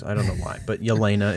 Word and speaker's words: Yelena: I don't know why, but Yelena is how it's pronounced.